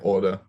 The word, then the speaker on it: Auder: my number one question how do I pronounce your last name like order order okay because because you're